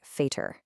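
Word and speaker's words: Vater: The V that sounds like an F. So, F, which means father, sounds like fater.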